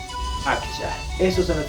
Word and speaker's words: akcha: Tal como estoy escribiendo, pronuncio.